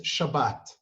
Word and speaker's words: Shabbat: like that because the the hebrew letters in english they're they're sh which the sound is sh so uh it happened through greek or roman or i'm not sure who that that should sound uh turned into a sound the letter just s so for